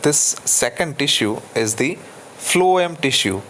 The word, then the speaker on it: phloem: Xylem, this tissue is pronounced as xylem tissue, and the pronunciation of this second tissue is the phloem tissue, phloem, phloem tissue.